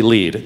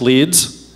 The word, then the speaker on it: LEED: whole lot time on lead except to explain that is not pronounced leads that's a city in England this is a Leeds